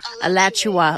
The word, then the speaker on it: Alachua: Alachua, like Joshua, but Alachua.